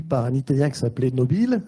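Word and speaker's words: Nobile: un italien qui s'appelait nobill je le prononce à la française et il s'est écrasé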